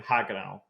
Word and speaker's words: Haguenau: As far as Chapter 4 goes, the 2 planned maps are as of now are Foy and Haguenau. That's how you pronounce it.